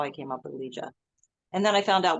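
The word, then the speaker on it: Ligia: I came up with Liah and then I found out what it meant because Liah spelled l i g i a which is the Greek spelling and the Italian pronunciation um that is that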